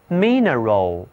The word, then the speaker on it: mineral: 到的就是 mineral. Mineral. 这回啊，字母 I 读音发生了变化，读错短 E. Mineral.